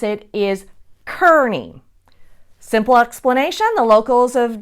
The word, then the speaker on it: Kearny: a general carny from the mexican-american war but Carney is now the wrong pronunciation then there's also tyranny which is the way that I pronounce it and that's also wrong the correct way to pronounce it is Kearny simple explanation the locals have just mispronounced it